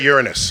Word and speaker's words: Uranus: Properly pronounced. Yeah. If you're older than 8 years old, you should say Uranus.